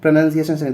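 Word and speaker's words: pronunciation: होता क्या है की कई लोग इसको प्रनंसीएशन पढ़ने हैं प्रोनॉन्सिएशन इसीलिए इसका स्पेलिंग भी क्या करते हैं वो गलत कर देते हैं ठीक है यहां पर गलत करते हैं एन ओ यू एन कर देते हैं नाउन कर देते हैं क्योंकि वो पढ़ने हैं प्रोनॉन्सिएशन इसलिए ये वाला गलत हो जाता है ये प्रनंसीएशन होता है ठीक है क्या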